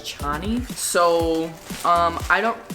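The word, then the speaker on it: Chani: you pronounce it because it said that Frank Herbert pronounced her name is Cheney but when I was reading it I pronounced it as channi so um um I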